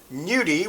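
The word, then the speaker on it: gnudi: made with potato and nudi with a silent g at the front is only made with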